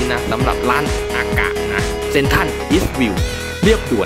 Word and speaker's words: AKA: เหนือ นะ อาะ นะ จริง ๆ ก็ อ่าน ว่า ร้าน อากะ นะ ก็ ถือ ว่า เป็น